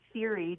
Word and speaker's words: Siri: I say Siri just because it's pronounced like, hey Siri.